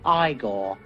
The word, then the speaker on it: Igor: depending on how you pronounce it now it's pronounced igor but they told me it was eagle well they were wrong then weren't they and